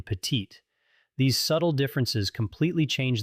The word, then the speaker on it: petite: For instance, the final consonant in petit is silent, but we pronounce the T in petite.